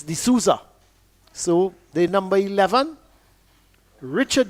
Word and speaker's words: De Sousa: Well, he's being pronounced, his spelling is S-O-U-S-A, but it's being pronounced, I understand, as De Sousa. So even though it's S-O-U-S-A, it's De Sousa.